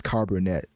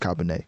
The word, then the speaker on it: Cabernet: one like the wine that's not how you pronounce it at all I was told you pronouncing carbonate you know I was on a date so I guess that makes up for it but I was I was told it's pronounced Cabernet and um let's just say